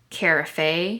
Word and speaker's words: carafe: Carafe. I don't know if this is how you pronounce carafe. Okay, you probably can't see this, but I googled carafe pronunciation. Carafe. I was wrong.